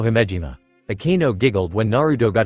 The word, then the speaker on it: Himejima: Kanu Jumanji? Or was it Himanji? Naruto tried to remember her name. It's Akeno Himejima.